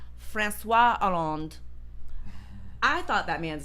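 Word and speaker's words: François Hollande: his name is pronounced franois aland I thought that man's name was Francoise HZ why on Earth would they have so many of those letters if I'm not supposed to say them no just so so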